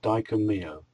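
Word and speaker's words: Dai Ko Myo: The Reiki Master Symbol is pronounced Daiko.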